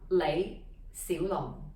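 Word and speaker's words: 李小龍: took for himself is lei si long all right so the light low rising mid rising long down at the bottom there low falling long which means dragon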